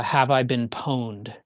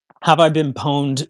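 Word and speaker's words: Have I Been Pwned: want to know, there's a website called uh Have I Been Poned? And that's spelled PW Ned D. P W NED. Um, have I been pawned will tell you exactly um you can type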